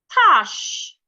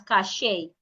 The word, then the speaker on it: cache: Cash. My dad would normally pronounce this word as cachet. That is wrong. Please say cash.